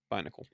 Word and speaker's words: Binacle: So having more like a week from now, not as necessary, but Binacle. still. Binacle, you think? Is that how you say it? Mm-hmm. Binacle.